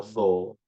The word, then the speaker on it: co: Now we know how C is pronounced in Fijian. So it is a tho.